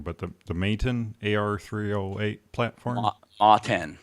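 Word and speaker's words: MATEN: Matten. Matten. Matten. So Okay. you've got the 10 in there. It actually stands for Mega Arms Tactical Enforcer.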